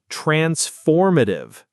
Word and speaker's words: transformative: Transformative. Transformatative. The stress is on the second syllable.